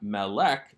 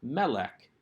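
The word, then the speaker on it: מֶלֶךְ: short vowels and yet the accent is on the first syllable of the noun so this is not malek this is melek and if you remember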